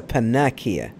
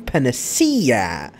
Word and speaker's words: panacea: of unica's story I've been calling this a panic eeeh but the correct foreign pronunciation is Celestion panacea and I remember that I've actually here I've